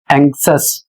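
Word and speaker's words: anxious: यहां पर लिखा है ए एन एक्स आई ओ यू एस एंगस और इसका अर्थ होता है चिंतित।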